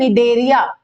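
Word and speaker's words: Cnidaria: बच्चों वो है फाइलम डेरिया फाइलम डेरिया यहां पर सी साइलेंट है ठीक है डेरिया में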